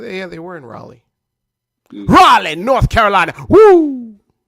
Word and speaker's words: Raleigh: Raleigh, North Carolina. Woo! Okay. That's how you got to say it. You got to say it like Ric Flair usually would say it on WCW Saturday Night.